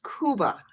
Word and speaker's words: Jakob: His name is spelled Jakob, but it's pronounced Kuba. It's Polish.